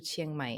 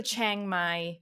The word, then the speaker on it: Chiang Mai: I am so annoyed when people refer to Chiang Mai as Chiang Mai. Like, so many times I hear people say, "Oh, we're gonna go to Chiang Mai.